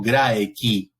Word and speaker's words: Graeci: Noten esto respecto del sonido C, que no depende qué vocal continúe, siempre suena, digamos así, como una K. Por eso digo graeci, ¿sí? No graeci ni graeci.